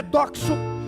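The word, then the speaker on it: δόξα: Mas quando nós fomos para o original do Novo Testamento, que é o grego, a pronúncia é doxo ou doxal.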